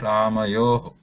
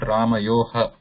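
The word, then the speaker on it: रामयोः: So it should be pronounced as Ramayoho, not Ramayoha. Okay. This is not Ramayoha. This is Ramayo, and just continue that O sound with a whisper. Ramayo. That whisper sound continues with the O.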